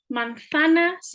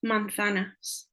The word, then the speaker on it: manzanas: This is, especially at beginner level, a word that's often mispronounced, manzanas. Remember to keep the A's short. The A is A, letra A, manzanas. And the Z is a sound. It's not manzana.